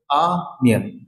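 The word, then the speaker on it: onion: অনিয়ন মানে হচ্ছে পেঁয়াজ। তো বেসিক্যালি এই ওয়ার্ডের ক্ষেত্রে আমরা আর অনিয়ন বলবো না, এটার সঠিক উচ্চারণ হচ্ছে আনিয়ন, আনিয়ন, আনিয়ন, অনিয়ন, অনিয়ন, অনিয়ন, like that.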